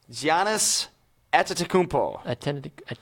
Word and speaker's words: Giannis Antetokounmpo: Giannis Antetokounmpo. And it's funny. It's fun listening to different broadcasters pronounce his name.